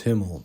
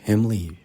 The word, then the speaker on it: Himlee: Whenever I go up to the mic, Himmel. No, dude. Himlee, bro. I'm proud of the Lee part of my name.